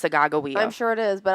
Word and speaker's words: Sacagawea: What, he's not Sacagawea? No, it's Sagagawea. Everyone says it wrong. If you look in history books, it's pronounced Sagagawea.